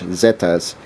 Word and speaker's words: Zetas: is called the Zetas in Spanish that is the letter z uh how it's pronounced in Spanish Zetas and how they comprised